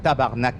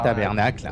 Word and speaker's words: tabarnak: Ah ouais, c'est comme je disais, tabarnak, c'est tabarnak qu'on dit quoi, pas tabernacle.